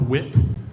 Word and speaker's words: WIT: mentioned a format called wit um I think it actually is more like a word that rhymes with wit uh and uh this